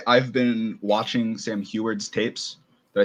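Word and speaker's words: Huard: so i will say i've been watching sam huert's tapes did i say it right that time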